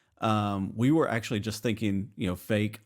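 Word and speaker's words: AFAIK: a long time, because it's the acronym or the shorthand for far as I know, or as far as I know, but you pronounce it fake.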